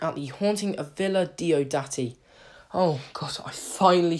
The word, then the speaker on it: Diodati: taking a look at the haunting of Villa do-dirty oh because I finally said it right after